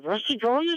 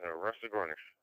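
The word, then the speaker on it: Rusagonis: It's Rusty Gornish. And that's the local pronunciation, Rusty Gornish.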